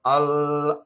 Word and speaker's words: alma: Alma. Notice that both L's are doubled because one L is just double L and the next L touches an M.